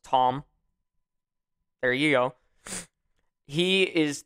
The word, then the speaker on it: Thom: mick as in m-i-c-k t-h-o-m tom now that's a weird spelling for the word tom it's supposed to be thompson but without the sin and the p so it's tom there you go he